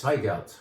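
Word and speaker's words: Zweigelt: it's fico so sorry starts with a z but it's most correctly pronounced if you kind of make a t sound before the z it's high gout how about that i'm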